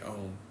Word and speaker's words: Om: Inhaling the A sound. A is silent. Pushing out a U sound through the lips, the throat, and bringing an M sound landing in the heart as if a plane is landing here. That is the proper way to say Om.